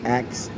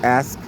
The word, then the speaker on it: ask: that word there right i'd be saying acts but it's ask so i'm gonna try